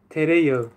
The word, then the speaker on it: tereyağı: Y otra palabra, tereyağı. Tereyağı. Mantequilla. Tere, yağı. Yağı. Mira, la palabra, la letra yumuşak que, la letra yumuşak que, no se pronuncia. Alarga la vocal anterior.